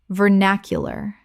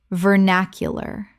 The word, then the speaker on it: vernacular: Vernacular. Correct pronunciation. Vernacular. 4 syllables with the stress on the second.